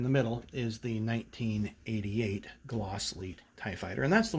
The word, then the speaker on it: Glasslite: When you go to Brazil, it's pronounced Glasslite, and so that's the way we'll talk about it today.